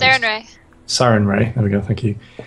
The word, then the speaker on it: Sarenrae: I can't actually pronounce. Sarenrae. Sarenrae.